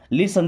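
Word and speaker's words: listen: लिसन। देखिए अब यहां पे टी साइलेंट।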